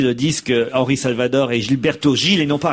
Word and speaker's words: Gilberto Gil: mettre l'accent en portugais les J et les G ne se prononcent pas re c'est en espagnol que cela se prononce ainsi merci j'ai essayé de